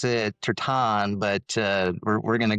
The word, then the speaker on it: Tertan: And today we are joined by John Tersen who actually said we should pronounce it Tertan, but uh we're going to go the more English.